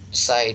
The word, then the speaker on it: psi: Psi itu disimbolkan, flux listrik disimbolkan dengan psi, kemudian ini bacanya PSI.